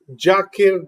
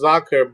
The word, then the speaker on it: Zakir: I got a Bengali friend here, and he I always call him Jakir Dada. His actual name is Zakir, but since Z is pronounced J in Bengali, I call him Jakir Dada.